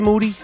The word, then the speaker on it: Moody: I'm here with G moody used last name rhymes with duty that's a fact you